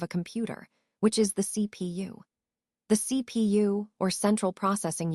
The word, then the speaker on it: CPU: Let's talk about the CPU, which is actually pronounced by spelling out each letter. CPU, it stands for central processing unit, which is essentially the core of the computer.